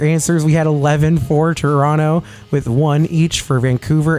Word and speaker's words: Toronto: and she pointed out everybody who's American says it Toronto cuz you see a second T and I believe in